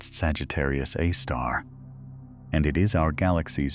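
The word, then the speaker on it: Sagittarius A*: Astronomers call it Sagittarius A, pronounced Sagittarius A star.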